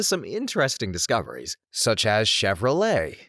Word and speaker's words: Chevrolet: interesting discoveries such as Chevrolet. The ch is apparently pronounced more like a shh, so I was saying chvy with a hard ch similar to saying chicken.